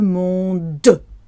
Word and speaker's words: monde: Tout le monde. Monde. So world is spelt M-O-N-D-E. The E at the end of the word is silent, but we have to say the D clearly.